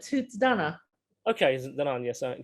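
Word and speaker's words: Tuatha Dé Danann: your knowledge of the tahaf theodona uh oh we call it toots donna okay isn't that yes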